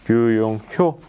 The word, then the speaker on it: 류용효: 지금까지 D1의 류용효, 예, 제가 호라고 잘못 네, 발음한 것 같습니다. 류용효 상무님과 스마트 제조와 PLM 관련된 말씀을 나눠봤습니다.